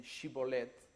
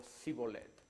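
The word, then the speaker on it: Shibboleth: es israelita o no por la pronunciación, si dicen Shibolet o Sibolet?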